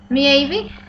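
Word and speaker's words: Maeve: from the irish goddess sorry if you can't pronounce this me evie m m-a-e-v-e or that she has links with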